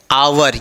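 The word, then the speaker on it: hour: आवर। ये भी क्या है? H silent.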